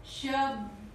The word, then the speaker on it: शब्द: शब्द, शब्द, मैंने क्या लिखा? शब्द, शब्द, शब्द, शब्द, और मैं बोल क्या रही हूं? शब्द। श पूरा बोल रही हूं, द, द, ब थोड़ा बोल रही हूं।